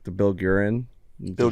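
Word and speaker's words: Guerin: say his name g I say guran because he's got that gue shout out to the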